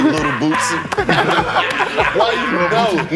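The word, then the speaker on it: Lil Boosie: Little Boosie.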